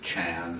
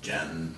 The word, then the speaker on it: Chan: from the Chinese word chan, sometimes pronounced jen, or chan. I don't know how you do that. How do you say that? Jen? John. John, like John and Mary.